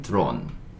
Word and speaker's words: drone: 마지막에 E는 묵음. 그쵸. 그래서 이거는 드론 이렇게 얘기하고, 드론 아시죠?